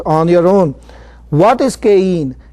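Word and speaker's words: cayenne: Let's move into caine. Some people pronounce it differently. Caine.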